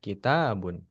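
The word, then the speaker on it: كِتَابٌ: K-nya biasa aja, bunya biasa aja. Tanya-nya yang ditekan kitabun.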